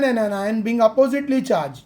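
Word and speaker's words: anion: बहुत सारे टीचर्स को कैशियंस भी कहते हैं, एनियन भी कहते हैं, लेकिन ये प्रॉपर प्रोनाउंसिएशन कटायन अनायन.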